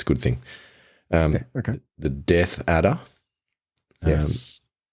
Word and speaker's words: death adder: The death adder. Yes. Sometimes people mispronounce that as a deaf adder because they do appear to not have particularly good hearing.